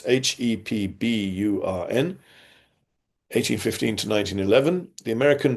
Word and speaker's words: Hepburn: Powles also has stressed that missionaries led by the Americans, James Curtis Hepburn, that's Hepburn, 1815 to 1911, the